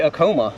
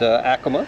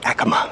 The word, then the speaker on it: Acoma: Okay, I used to say Acoma, but Acoma. This sounds a little better. I used to say Acoma too until a Native American came up to me and said the correct pronunciation is Acoma.